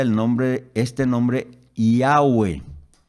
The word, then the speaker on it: Yahweh: Ecos hoy consultado en el lenguaje hebreo se pronuncia el nombre este nombre yagüe y agüe de ahí viene el nombre de